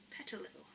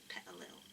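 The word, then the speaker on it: Petilil: i do like it pet a little um parallel is forgive my northeast accent okay pet a little pet a little that's how i pronounce it with my accent pet a little um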